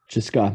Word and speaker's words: CSKA: How do you pronounce that in soccer? Cheska, yeah.